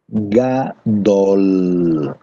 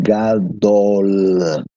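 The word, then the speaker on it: גדול: Grande é a palavra gadol, L bem pronunciado, gadol.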